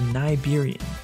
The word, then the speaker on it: Nibirian: The devs have confirmed this before that the proper pronunciation is Niberian, so perhaps this is